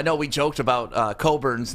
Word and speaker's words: Cockburn: loved the hunter dickinson coburn match up the first time around cockburn you always say it wrong it's coburn it's cockburn kofi coburn yeah you have